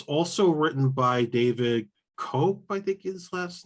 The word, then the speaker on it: Koepp: It's also written by David Koepp, I think is his last name.